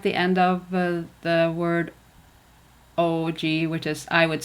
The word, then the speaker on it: og: When it comes to the word og, you don't say it.